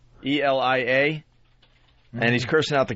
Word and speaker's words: Elia: Elia.